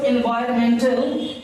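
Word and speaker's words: environmental: इसको एनवायरमेंटल एनवायरमेंटल and silent हो जाता है।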